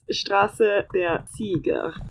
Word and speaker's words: Straße der Sieger: Champions is English, so it's Straße der Sieger.